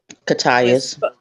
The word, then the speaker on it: Cocytus: the fields of, I don't know how to pronounce it, Cocytus. It's a realm of hell. Catius.